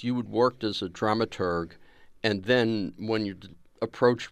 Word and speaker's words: dramaturg: as well exactly it's a drama Turk or dramaturg we dramaturg like to do the hard G at the end yeah and whenever you